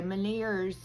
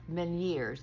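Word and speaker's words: Ménière's: So anyway, maners, it's actually pronounced miners, like men m- n years, ye a rs, but that's not how it's spelled, but that's how it's pronounced.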